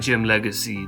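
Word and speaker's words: Jim Legxacy: I think you say it like Jim Legacy, there's an X in there.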